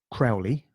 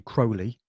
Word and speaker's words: Crowley: His name is often mispronounced as Crowley. It's actually Crowley. Ozzy Osbourne did his track Mr. Crowley, where he mispronounced his name the whole time.